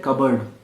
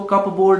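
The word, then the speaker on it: cupboard: Spelling उसकी ये होती है, इसको कप बोर्ड मत बोलना, ये इसको कंपाउंड वर्ड बोलते हैं, जो दो वर्ड्स को मिलके बनता है और एक नया वर्ड बन जाता है। बट इसका प्रोनाउंसिएशन जो होता है वो कबर्ड होता है, और ये प्रोनाउंसिएशन नहीं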